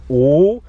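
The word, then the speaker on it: 五: minutes now in chinese the number five is pronounced ooh and i will put five fingers up and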